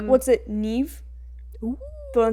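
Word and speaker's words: Niamh: ] favorite Irish name I like what's it Neve but it's like n-i-m-h that's how you pronounce it yeah I thought you meant like Neve Campbell like n-e-v-e who has the same birthday as me fun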